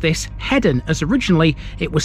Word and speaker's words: Hedon: Eastern side of the city despite calling it heeden in the intro the locals pronounced this headen as originally it was spelled with 2DS although